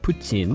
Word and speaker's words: poutine: day, I'm now all caught up on Dark Poutine. Oh, wow. And looking forward to new episodes. See how I'm pronouncing it correctly?